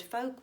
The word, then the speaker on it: folk: When we say the word folk, we don't actually say folk. We don't pronounce that letter either.